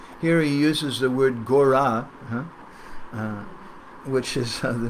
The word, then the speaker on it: Gora: it's a name for Mahaprabhu, just like G-A-U-R-A, Gora, and it's spelled similar, it's pronounced similarly.